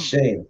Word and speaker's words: Schoen: Well, the first thing we have to do is we have to learn to pronounce his name right. Schoen. Because everybody keeps messing it up. Schoen, yeah.